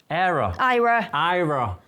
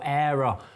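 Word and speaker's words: Aira: Me and Alice are going to do a couple more videos about Envision and Ira. I always used to pronounce it wrong. Yeah, I always pronouncing it wrong. So Ira. Ira.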